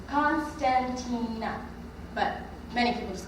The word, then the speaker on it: Constantina: i'm 14 years old in english the way you pronounce my name is constantina but many people just